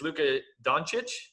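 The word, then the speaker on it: Luka Dončić: And I'm sure I'm going to get his name wrong, but it's Luka Doncic?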